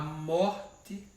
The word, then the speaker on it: morte: Qual é a sílaba tônica de morte? Morte. Então é mor.